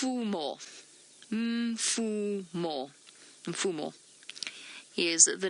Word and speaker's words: Mfumo: relatively simple one but the male's name mfu m o for our for our new viewers mfu m o m f more M Fu more fumo is the name